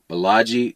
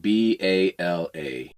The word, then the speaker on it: Balaji: In September of 2024, Balaji Srinivasan announced the Network School, a 3-month learning